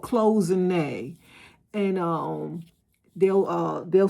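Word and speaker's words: cloisonné: Just say Google uh pronounce closing. It's called closene.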